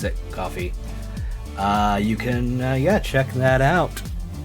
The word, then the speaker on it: Ko-fi: I can never remember how to pronounce it. Coffee.